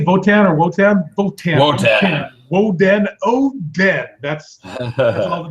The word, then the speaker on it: Wotan: Votan. It sounds like Wotan is like we said it on the first episode. It's like the Germanic way to pronounce it.